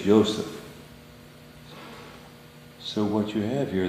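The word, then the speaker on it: Yosef: of course not pronounced Joseph no it's Notre it's yoseph so what you have here this this is the ysph yes exactly as any Hebrew speaking person would pronounce it mhm so yoseph the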